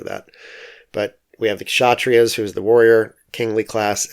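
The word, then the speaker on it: Kshatriya: so the warriors are the chatrias with kind of a silent k at the beginning although i do periodically say the k and you'll have to forgive me for that but we have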